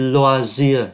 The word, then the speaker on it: loisirs: O với Y là oa, les loisirs, ký tự S cuối không có đọc.